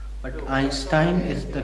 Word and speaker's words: Einstein: Actually, Einstein is Indian pronunciation, but Einstein is the correct pronunciation.